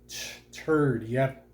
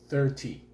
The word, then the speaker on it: thirty: i think three zero turd yep turdy you have to say 30.